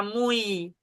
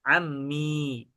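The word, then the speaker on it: عمي: Susah kalau kita baca ammui. Hah? Susah kalau kita baca ammai. Akan mudah bacanya kalau kita baca ammi.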